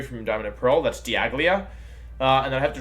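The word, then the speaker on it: Dialga: So somebody last stream asked, how do I pronounce the Pokemon that's the time legendary from Diamond and Pearl? That's Diaglia.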